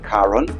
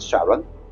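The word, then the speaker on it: Charon: So, anything uh spelled with a K is pronounced with a K. So, it's Caron, not Sharon.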